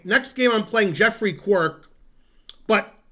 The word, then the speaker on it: Quirke: Okay, next game I'm playing Jeffrey Quirk, but it's Quirk with an E at the end, which I assume isn't pronounced.